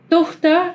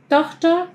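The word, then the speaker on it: Tochter: la, de la palabra, pero reparen como la t no es Tuj, no es, tohta, es tohta, tohta, es un t un poquito más suave, así con un Un sonidito ahí, de, de la lengua en el paladar que se, se escucha más. No es tan seco como en el español.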